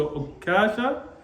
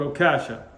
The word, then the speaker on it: Ukasha: And before we start, talking about the mispronunciation here, it's actually come both with the shadda on the kaf and without the shadda. So you could say Ukasha or Ukasha.